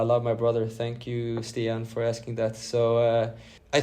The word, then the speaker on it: Stian: Yes, Stian.